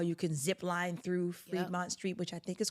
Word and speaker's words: Fremont: Is that how you say it? Fremont? It's in the word, free.